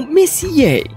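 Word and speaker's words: Messier: حسنا أيتها الشابة، يشير حرف M إلى ميسيي وينطق اسمه ميسيي.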